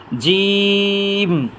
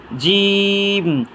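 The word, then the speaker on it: ج: হরফটার নাম হচ্ছে জিম জিহ্বার মাঝখান তালুর মাঝখান থেকে উচ্চারণ করি তিনবার উচ্চারণ করি ইনশাল্লাহ জিম জিম জিম এই হরফটার নাম হচ্ছে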